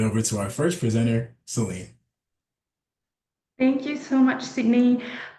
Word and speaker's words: Celine: I'm Celine, pronounce Celine and not ceiling.